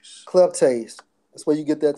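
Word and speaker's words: κλέπτης: it's Strong's G 28 and 12, and it's pronounced as it's coming up now, bro. Mhm. Strong's G 2812 Kleptase. Kleptase.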